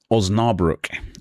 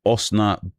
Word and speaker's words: Osnabrück: Osnabrück. Or is it Osna? How do you pronounce a U? Broik. Osnabrück.